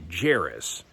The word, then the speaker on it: Jairus: his name was well we would pronounce it jairus but i don't really think they pronounced the jays back then to be like yaris or something like that anyhow he was a